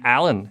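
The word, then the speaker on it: Alain: french-canadian i'm so french-canadian my name alan is spelled a-l-a-i-n i have also lived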